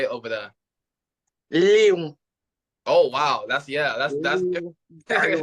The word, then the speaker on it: Lyon: Léon.